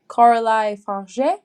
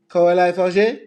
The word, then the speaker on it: Coralie: pronounce it she's French I think it's like corai corai okay it sounds very